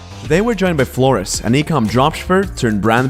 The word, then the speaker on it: Floris: to ecom insider talk today we're joined by flores the pronunciation is perfect bro okay perfect how are